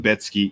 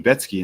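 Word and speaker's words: Rebecki: So, Matteos Retsky. So, apparently it's Betsky and that absolutely blew my mind, but it's Polish, so I guess that kind of makes sense because they pronounce things all kinds of crazy.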